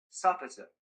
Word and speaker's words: sufficit: The word you see it sounds like sufficit.